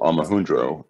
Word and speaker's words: Omohundro: And this is a theory that was established by a man called Steve Omohundro. If you want to have some fun, Google Omohundro, which is spelled phonetically Omohundro.